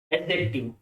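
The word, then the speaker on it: adjective: एडजेक्टिव। ठीक है, डी यहाँ पर साइलेंट है।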